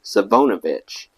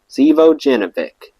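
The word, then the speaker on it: Živojinović: at the time shy couldn't say this guy's Serbian last name calling him savovic in fact of all our friends only I seem to be able to pronounce it correctly Alexander Zeo jevic Alex was well-liked at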